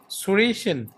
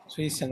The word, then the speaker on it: zwischen: মধ্যে আমি বাসায় আসি তাই না মানে এটা উচ্চারণটা কিভাবে কোনটা মধ্যে zwischen মধ্যে between হ্যাঁ Surishan zwischen Surishan okay zwischen এবার একটু বইতে যাই okay এই